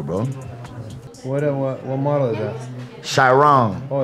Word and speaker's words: Chiron: Chiron. Oh, it's one of those. That's like a modern one. That's how you say it? Chiron?